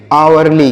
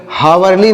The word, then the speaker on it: hourly: इसे हावरली नहीं पढ़ेंगे, यहाँ पर यह चीज साइलेंट है, हम इसका प्रोनाउंसिएशन यहाँ पर नहीं किया जाएगा, इसे हम आवरली पढ़ेंगे।